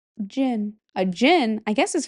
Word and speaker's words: jinn: This one I know how to pronounce it now. It's jin.